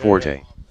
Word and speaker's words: Forte: Forte, Rafi's Armenian, Sorry, Patrick what's your name? Wotton, Jason. Oh, Jason. Okay. So it is pronounced Fort, not because the computer calls you Forte, I think.